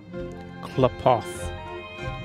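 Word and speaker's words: Qlipoth: Klipoth. Never in a million years would I have gotten that pronunciation from that word with the way it looks. There's a Q and there's no U.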